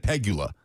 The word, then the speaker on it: Pegula: Okay, now you've got me scrambled because I've always said Peggula. Peula. Sounds like it sounds like a Peula. Peula. Peggula. Pegula. You asked me this in the commercial break. I told you how to say it. You lied to him, didn't you? No. No. I only do that to you. I only do that to you. Pigula. Pigula. Pigula.